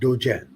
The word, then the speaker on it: Dzogchen: world which is called it's pronounced chen right so do jen d z o gen and it's a very